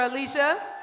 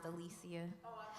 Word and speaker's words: Alicia: do bad nap for Alicia just want to make a quick correction my name is pronounced Alicia it's okay common mistake Alicia something about me